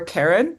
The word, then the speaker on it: Charon: to the official documentation you can say both Sharon or Karen and it's just that